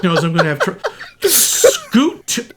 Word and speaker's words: Scoot: I'm going to have Scoot McNairy. Not Scott. I am not mispronouncing. His name is Scoot.